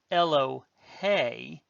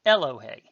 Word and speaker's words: Elohe: So this is Elohe, because the accent's on the last syllable, not Elohe.